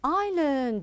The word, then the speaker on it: island: I have an island. Very good. Island. Island. Now notice the S here is silent. We don't pronounce it.